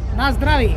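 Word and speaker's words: Na zdraví: Nasdravi.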